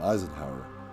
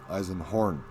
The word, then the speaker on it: Eisenhorn: into a habitable environment an eisenhower oh man i am saying his name wrong eisenhorn like most people didn't